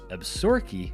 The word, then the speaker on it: Absaroka: yellowstone we stated the absaroka inn which is named after a nearby mountain range and is usually pronounced absorkey by the locals you can't beat this